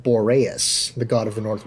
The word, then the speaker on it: Boreas: into the mouth of boreas and he's actually pronounced Boris I've been calling emporious this whole time and